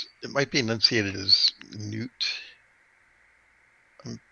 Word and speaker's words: Knut: name is okay so his name is spelled k-n-u-t it's a nuts enunciated as newt and who wrote that